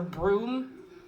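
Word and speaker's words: Bruttenholm: 1947 a young professor broome his name is written differently but i heard that you're supposed to pronounce his broom i think i'm not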